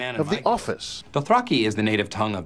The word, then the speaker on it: Dothraki: reflect that though I apparently got it wrong he pronounces Dothraki Dothraki he records every line